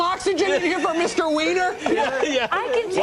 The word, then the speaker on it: Weiner: Weiner? Yeah. I can tell. Weiner. It's Weiner, by the way.